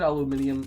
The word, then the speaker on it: aluminium: I don't know glute aluminium or aluminum chassis if you were Canadian like myself who's pronounce it aluminium aluminium but aluminium just sounds so much cooler right front longitudinal engine